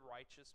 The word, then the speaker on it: righteous: does righteous mean anybody know what the word righteous means it means to do what's right all right um so that's morally good right uh in English it was originally pronounced rightwise all right that like likewise or otherwise This